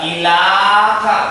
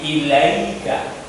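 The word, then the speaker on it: إليك: Ilaika, enggak ilaka, bukan. Ilika, bukan. Tapi ilaika.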